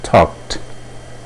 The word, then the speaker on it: talked: O passado seria I talked. Mais uma vez o verbo termina em K, então a pronúncia é T.